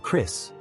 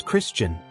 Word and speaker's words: Christian: I hated being called Chris. It's Christian. Two syllables. Not that hard.